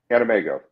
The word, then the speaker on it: AnimEigo: Anime in the Western World wait anime ego animego yes Ina I've been saying it wrong for